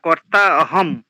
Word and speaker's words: কর্তাহম: আহকার বিমুরাত্মা কার্তামিতি মানতে হটা কর্তাহম এখানে কিন্তু এটা লুপ্ত কার নয় লুপ্ত আকারে হ এর মাত্রা থাকে না এটা হটা স্পষ্ট করে উচ্চারণ করবেন আচ্ছা করতাহমিতি ম্যতে